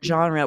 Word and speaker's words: genre: right the word genre we're still sort of saying the r like we say in the states and French would be with that R in the back of your throat like French but rarely you know most English speakers don't speak French and so they won't be able to do that French R so we have to